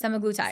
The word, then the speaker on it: semaglutide: And I went on semaglutide. I'm saying it wrong. Yes. Semaglutide.